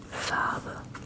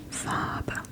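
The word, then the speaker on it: Farbe: Fab fab fab fab. You don't really pronounce the R.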